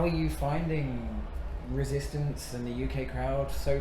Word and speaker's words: Resistanz: Resistance, am I saying it correctly? Technically, yes. Okay. Because obviously Tanz, German dance, but right. Yeah, I mean we just say Tanz, whatever. Tanz, okay, Tanz.